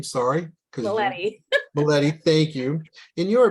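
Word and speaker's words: Mileti: the leaders in disaster research, like Quarantelli and Militelli. I know I butchered that name, sorry. Maletti.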